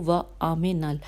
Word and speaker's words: وَآمِنَ: مفہوم ہجے بتاتی ہوں۔ وَآمِنَ واو الف میم نون، واو پہ فتح ہے، الف پہ فتح ہے، میم کے کسرہ ہے اور نون پہ بھی فتح ہے، اور پھر العواقبہ، الف